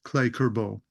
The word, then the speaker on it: Cle Curbo: Well, I've totally Americanized it. It's Cle Curbo.